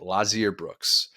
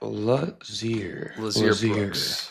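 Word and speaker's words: Lotzeir Brooks: Lazier Brooks. The T is silent. Don't look at the T. I gotta look at the etymology of that. Lazier Brooks.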